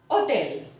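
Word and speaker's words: hôtel: Then, Hotel. Hotel. Hotel, H is again silent, so we are going to say that hotel.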